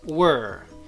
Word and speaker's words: we're: contraction it becomes the its pronunciation will be pretty much the same as the pronunciation of this word were okay so we're going